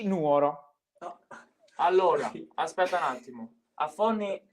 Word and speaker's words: Nuoro: mi ricordo più eh ma secondo me è nuovo già che me lo pronunci così ti toglierei la cittadinanza è Nuoro si dice E comunque io un